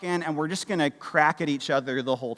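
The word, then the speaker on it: craic: is it different well they call it the crack c r a i c I did check that pronunciation multiple times right they call it the crack right which is this cultural value of when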